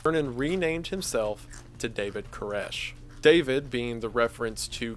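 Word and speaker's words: Koresh: renamed himself to David Kesh David being the reference to King David the one who the Davidians took their name after and Kesh being the Hebrew pronunciation of King Cyrus the Great the king who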